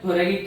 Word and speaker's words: thoracic: सो जो हार्ट है ये कहां पर प्रेजेंट है, थोरैकिक कैविटी में प्रेजेंट है। ओके, इसको आप थोरेसिक भी बोल सकते हैं, थोरेसिक कैविटी में present, but more valid is थोरैकिक cavity.